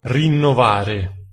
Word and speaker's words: Rinnovare: Rinnovare. I got some wheels from the homie Chris over at Rinnovare Wheelz. Insert how to say it correctly. Rinnovare.